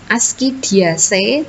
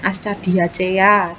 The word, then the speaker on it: Ascidiaceae: Ascidiaceae, Thaliaceae, Larvaceae, bacanya kayak gitu ya. Jadi jangan Ascadiacea, Thaliciacea, nah kayak gitu.